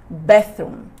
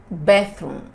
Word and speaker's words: bathroom: Don't forget, we have the TH sound here. Remember our pronunciation class? So you need to bathroom, bathroom, okay? É tipo dar uma sopradinha. Bathroom, bathroom.